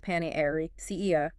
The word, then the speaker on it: panacea: Pronounced pan ca. Panosa.